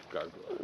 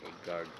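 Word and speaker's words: גרגר: Gargor. No, it's not with a kamatz. It's with a patach. The vowel is patach. Gargar.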